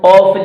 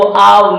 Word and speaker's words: of: वैसे अगर आप डिक्शनरी चेक करेंगे तो उसके अंदर ओ एफ का जो प्रोनाउंसिएशन है वो आव मिलेगा। आपको क्या मिलेगा? आव, ऑफ नहीं मिलेगा। लेकिन ज्यादातर लोग इसको ऑफ ही पढ़ते हैं। आप ऑफ पढ़ें या आप पढ़ें, डिक्शनरी जो है इसका प्रोनाउंसिएशन आव ही देती है।